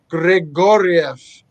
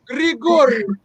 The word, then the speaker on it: Grigorieff: Ashley Thiner, Grigorieff. Yeah. I said it right. Our local wrestling. Grigorieff.